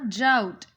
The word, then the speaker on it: drought: He lost all his crops in a drought. Underline the word DROUGHT. Drought. One. What is the meaning of this word? Let's see here. Rhymes with doubt.